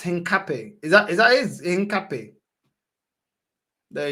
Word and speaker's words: Hincapie: It's pronounced Hincapie.